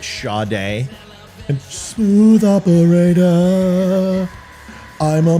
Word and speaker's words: Sade: something right where basically her name was Sade but she pronounced it sha day and smooth Operator I'm